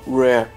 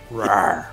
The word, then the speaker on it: Rare: na época da Rare, ou Rare, se você preferir a pronúncia assim. Rare.